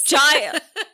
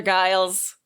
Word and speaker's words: Giles: Giles. Did you not? You had it right the first time. Oh my God, I just can't. Am I saying Giles or Giles? Giles. Giles. With a soft G.